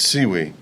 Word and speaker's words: Siwy: So, it's seaweed.